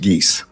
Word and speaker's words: Geis: And if I may correct the court, the last name is pronounced Geese. Geese, sorry about that. As in Canada geese.